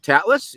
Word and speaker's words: Tatlas: wonderful guest here is uh Mr uh tatlas is is that did I pronounce that right yes you did all right